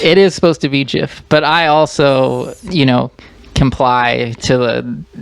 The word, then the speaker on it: GIF: Is it pronounced GIF or JIF?